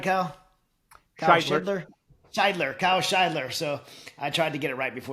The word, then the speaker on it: Shidler: Kyle Shidler.